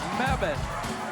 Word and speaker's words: Mebane: Mebane, like Bevan.